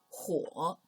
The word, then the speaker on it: 火: The left part by itself means fire and is pronounced as 火.